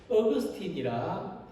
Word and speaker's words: 아우구스티누스: 고백록이라는 제목으로 책을 쓴 아우구스티누스이며 영어 발음으로는 어거스틴이라 부릅니다.